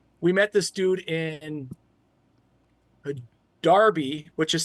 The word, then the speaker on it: Derby: would pronounce it like that because that's how it's spelled aluminum but they call it aluminium and stuff like that and it's Darby even though it's d rby y but it's